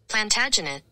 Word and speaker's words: Plantagenet: how to say this I can't if you spell it I can't get it I got it plantagenet plantagenet plagen plantagen PL first try plantag plantagen